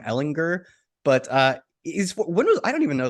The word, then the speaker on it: Ehlinger: I think it's a hard G, actually, Sam Ehlinger.